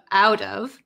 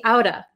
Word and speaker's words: out of: out of buying but if i say it like uh in natural conversation i might say my parents talked me outta my parents talked me